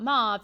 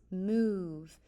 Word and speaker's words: move: It's not mauve, it's move. The E makes the O change the sound.